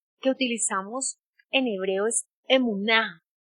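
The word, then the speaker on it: אמונה: No sé si me puedes colocar allí en pantalla esa palabra emuná. ¿Cómo suena? ¿Cómo suena? No tiene. Emuná. Son tres sílabas que conforman la palabra fidelidad.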